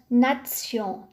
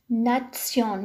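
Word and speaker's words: Nation: تي مع حرف اي تنطق تسي تسي مثل كلمة ناتسيون ناتسيون وهو الوطن.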